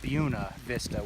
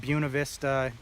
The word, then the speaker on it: Buena Vista: She was very confident and said it's pronounced Buena Vista with like an emphasis on the U.